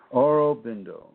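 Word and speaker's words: Aurobindo: u r o b i n d o oro bindo and just google oro bbindo bingo bindo or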